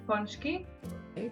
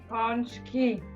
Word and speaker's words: pączki: And there is the plural form. Pączki.